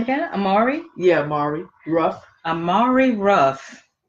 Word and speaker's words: Amari: Amari?